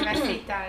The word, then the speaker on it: Eva Sita: Eva Sita, yeah.